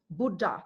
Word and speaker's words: Buddha: The Sanskrit, Buddha, the 2 syllables, Tibetan equivalent, Sangye.